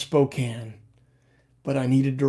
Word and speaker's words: Spokane: trying to troll me here aren't you it's pronounced spokane but i needed to rhyme it in the song so i called it spokane good to see you daniel's in jackson a